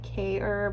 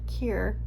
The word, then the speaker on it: Kjaer: So if you haven't heard of this brand, Weis, I always pronounced it Kjaer, but it's Kjaer, K-E-E-R. It's kind of how you pronounce it.